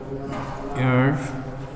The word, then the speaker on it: heir: আবার দ্বিতীয় সেন্টেন্সটি the lady adopted an হেয়ার, অর্থাৎ এখানেও দেখা গেল যে এইচের উচ্চারণ, এটাকে বলা যায় অনুচ্চারিত উচ্চারণ, অর্থাৎ কনসোনেন্টের উচ্চারণটি এখানে